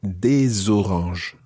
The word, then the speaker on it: des oranges: And if it's some oranges, then you would say des oranges. Des oranges. And of course, you pronounce the S of des because it's followed by a vowel.